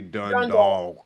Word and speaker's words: Dundalk: You gotta say Dundalk.